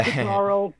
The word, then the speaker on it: Ikutaro: also your relationship with Ikutaro Kakehashi. I'm not pronouncing that correctly, I know, but You're pretty close. okay. Ikutaro Kakehashi, you got it.